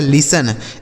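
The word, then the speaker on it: listen: और देखिए यहां टी साइलेंट है। मतलब इसे नहीं पढ़ा जाएगा। एन से न। यह लिखा आपका लिसन।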